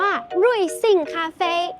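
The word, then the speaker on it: 瑞幸咖啡: คะ ก็ คือ Luck in Coffee อ่าน ว่า รุย ซิ่ง คาเฟ รุย ซิ่ง คาเฟ ใคร ชอบ ข้าว อาหาร จาน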